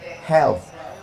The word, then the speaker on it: health: Di ujungnya ada TH, health.